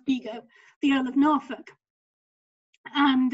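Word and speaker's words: Bigod: roger by god sorry beagle is pronounced bigo the earl of norfolk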